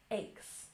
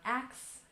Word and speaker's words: aches: Aches, aches. It's not axe, it's aches.